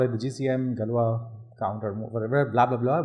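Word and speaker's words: Galois: called as the uh galwa counter mode now this is spelled as g l o i s but I think this is like a French word so you say gal galwa or something like that I'm not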